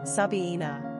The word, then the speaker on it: Sabina: Pronunciation, Sabina.